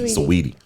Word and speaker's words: Saweetie: Saweetie. Sweetie with an A in the middle.